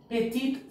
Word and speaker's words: petite: Petit fils, petite fille. As an e is added to petit, the t is also pronounced.